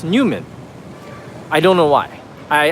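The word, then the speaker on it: NEWoMan: So, this is Newman. It looks like New Woman, but actually it's pronounced Newman.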